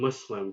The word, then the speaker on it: Muslim: the english word would the u.s. in muslim is not identical to the uz in the english word muzzle and I mean there's